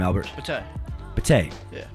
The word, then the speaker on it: Bateh: Pate.